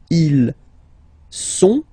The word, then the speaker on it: ils sont: Ils sont, final T not pronounced, ils sont, elles sont, okay?